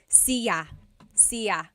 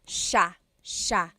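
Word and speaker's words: siya: It looks like it should be pronounced cia sa but it's actually pronounced sha sha.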